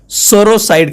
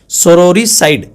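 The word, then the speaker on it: sororicide: फिर killing of once sister सोरोसाइड कहलाएगा, सोरोसाइड, सोरोरीसाइड, sorry, सोरोरीसाइड, ठीक।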